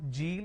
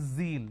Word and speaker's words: zeal: It's not Jeel, it is zeal. It's a z sound.